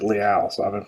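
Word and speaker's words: Leal: at layout to 99 I thought it was Leo but then the uh during the NFL draft they pronounced it Liao so I haven't pronounced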